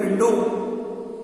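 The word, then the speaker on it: window: तो जब हम बोल रहे हैं तो हमारे बोलने में विंडो आ रहा है, विंडो। डब्ल्यू हमारा प्रोनाउंसिएशन में नहीं है, तो जो चीज हमारे प्रोनाउंसिएशन में नहीं है वो हम नहीं लिखेंगे।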